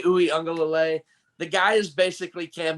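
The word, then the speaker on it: Uiagalelei: mentioned before dj ukulele because i can't pronounce his last name knights it's dj ooey unga lalay the guy is basically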